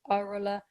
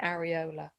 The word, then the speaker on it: areola: Now, sometimes that's pronounced in different ways. Sometimes it's called the areola, sometimes it's called the areola. I say areola.